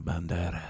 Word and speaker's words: Banderas: Love Antonio Banderas. I was expecting That's him. anytime anybody says his name, you have to say it like Banderas. Antonio Banderas.